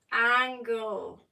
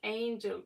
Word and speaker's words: angel: People don't know that angel actually is pronounced angle. It's not angel, it's angle.